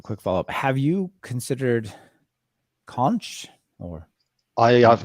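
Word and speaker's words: xonsh: I know it's supposed to be pronounced conch, but my brain says zonch because Zonch.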